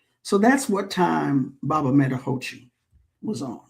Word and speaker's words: Medahochi: But the Metahochi Festival, MEDAHOCHI, Metahochi.